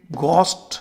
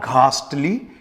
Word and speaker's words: ghastly: तो मैंने देखा इसको अधिकांश लोग घो बोलते क्योंकि जी एच का प्रोनंसिएशन वो यह गोस्ट घोस्ट के रूप में करते गोस्ट यह गलत उच्चारण है इसका सही प्रोनंसिएशन केवल गस्टी होता है यानी जी एच का प्रोनंसिएशन सिर्फ ग है घ नाम का साउंड अंग्रेजी में नहीं है सो इट्स नॉट घास्टली इट इज ली जैसा